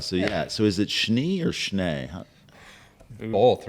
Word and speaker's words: Schnee: It's like Shunnays or Sheenies, depending on who you talk to. Yeah. Exactly. So yeah, it's all over the map. So just so it rhymes with TV, we're going to go with Schnee TV for this particular adventure.